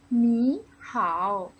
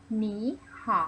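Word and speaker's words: 你好: คำ ว่า หนี ขาว ให้ เด็ก ๆ ออก เสียง ตาม พูห์ อีก หนึ่ง ครั้ง นะ คะ หนี หอ คำ นี้ แปล ว่า สวัสดี นะ คะ อย่า หนี หา เอา คะ อัน ที่ สอง ค่ะ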